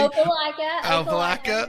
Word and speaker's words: Opelika: Whether it's helping clients in Auburn, Opelika, if I pronounced that correctly, Opelika, yes.